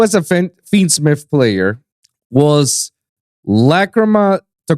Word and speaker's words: Lacrima: Why does everybody keep getting that name wrong? I don't understand. It's Lacrima, guys.